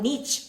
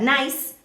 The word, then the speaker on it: Nice: failed another club in France with Nice or Niche, whatever you want to pronounce it as, but Nice, okay, Nice, was a good idea is beyond me.